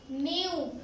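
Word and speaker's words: knew: sound silent हो हर्षित न्यू न्यू की spelling के एन ई डब् के एन डबल क्या पढ़ेंगे इसको हम न्यू न्यू इसमें के की साउंड साइट और न्यू पढ़ा जाएगा इसको ठीक है सडा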